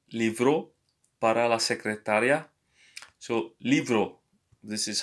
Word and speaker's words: libro: So, libro. This is how you say this word. You pronounce it like a V, the B.